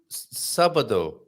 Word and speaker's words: sábado: Sábado. I knew that really. Sábado. Yes, Yes. that you are right. Lots of Yes. people say sábado Yes. because they don't put the accent on the A, right?